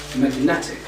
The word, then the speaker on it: magnetic: you have to say magnetic so you can notice that the word magnet is just on the first syllable when we added ic the suffix ic the stress moved to the second syllable and it became magnetic